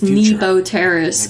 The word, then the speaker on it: Nebo Terrace: contract that is how you say it is Nebo Terrace I never really knew for sure how to